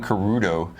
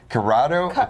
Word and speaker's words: Curado: Have I been saying the name wrong? I've been calling Curo. Curado. It's an A.